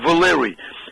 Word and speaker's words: Valery: My name is spelled with Y at the end instead of I-E for female, spelled with Y, and it's pronounced Valery.